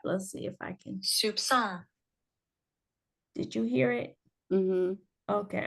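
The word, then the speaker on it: soupçon: and it's app let's see if I can Soup song did you hear it okay I'll play it again just Soup song Soup song yeah and it means a very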